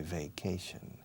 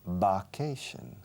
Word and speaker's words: vacation: Ahora, estoy cansado de corregiros porque no se dice vacation. Va, como vaqueira. Va, no, va primero. No hay B, es V. And the first letter, the first vowel is A. Vacation.